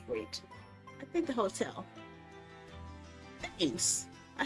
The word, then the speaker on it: Thames: Thames. I said that. Thames. Well, why has an H in there? Why does it have an H if it's not supposed to be pronounced?